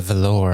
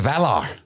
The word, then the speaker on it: Valar: It's the emphasis on the wrong syllable.